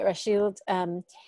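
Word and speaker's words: Rachilde: Is Rashild? Mm-hmm. Okay, Rashild, her life.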